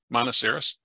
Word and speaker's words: Monoceros: middle um in Monastery monoceros okay Trina how do you pronounce it monocerus monocerus I was right the first time I was thinking it